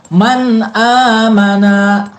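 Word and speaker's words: مَنْ آمَنَ: Dibacanya jelas. Man amana. Jangan dibacanya didengungkan. Man amana. Salah. Ya, nggak didengungkan. Atau dibaca samakan man-amana juga salah, ya.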